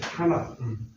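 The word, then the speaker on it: Tanakh: 구약의 성경은 히브리 성경은 히브리 사람들이 뭐라고 얘기하냐면 타낙이라고 해요. 타낙. 타낙이라는 말 들어봤죠? 타낙. 타낙이라고 하는데 그게 뭐냐면 영어로 스펠링은 TNK 그 세 개를 넣고 타낙이라고 얘기를 해요.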